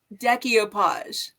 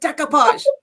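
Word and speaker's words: découpage: can't resist watching, but she says deopage and it drives me insane. It's like decopage. Don't put that extra syllable in there.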